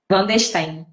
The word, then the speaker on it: Vandesteen: Van der Steen, Clandestino. Tá. Só a pronúncia que eu não sabia.